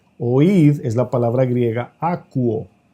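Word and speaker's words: ἀκούω: Aquí en Mateo 13, oíd es la palabra griega akuo o akouo, así se escribe con K de kilómetro, akouo, que significa lo mismo que Shama, oír.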